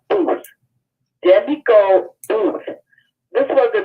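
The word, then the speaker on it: Boothe: the author's name, Demiko Booth. Spell it. Booth is spelled I'll spell it. B-O-O-T-H-E. Like boot, and then H-E at the end.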